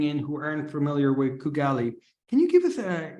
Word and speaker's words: Kugali: everyone who doesn't know kugali um so it's pronounced as kugali um so we are a company that we're